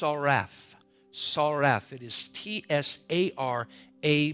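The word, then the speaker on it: tsaraph: you look at is the word it is pronounced RF saref it is TSA are a pH SAR F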